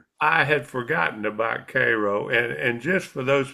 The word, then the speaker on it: Cairo: I had forgotten about CRO and and just for those people that aren't